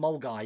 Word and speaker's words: Milngavie: Still think it's hard to beat Mulguy. Milngavie and Mulguy.